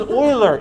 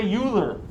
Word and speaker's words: Euler: a mathematician named euler the name is euler it looks like euler don't say euler i will publicly mock you if you say euler it's a german name